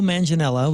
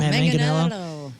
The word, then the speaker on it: Manganiello: I was watching Ben Roethlisberger's podcast, and Joe Manganiello was on there, and he stated that he sang back up for the Used and Story of the Year.